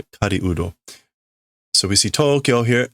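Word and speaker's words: 狩人: Not the normal pronunciation for these kanjis, so to speak, but it's hunter, hunting person, Kariudo.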